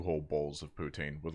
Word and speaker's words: poutine: So now I say poutine or poutine if you want to use the correct. But poutine.